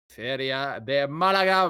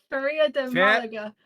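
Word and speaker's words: Feria de Málaga: Is it Feria de Malaga? Yep. I'll just say Feria de Malaga.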